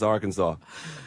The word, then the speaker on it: Arkansas: And it is pronounced Arkansas.